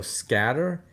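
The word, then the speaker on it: Sketer: t e r so scatter that's the way they say it i'm like doesn't sound the way it is but okay we'll go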